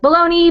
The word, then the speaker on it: Bologna: name, which is, and then Bologna, even though it's spelled like Bologna, B-O-L-O-G-N-A.